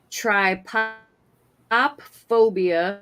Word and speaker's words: Trypophobia: Trypophobia, spelled like try and then P-O-P, pop, phobia.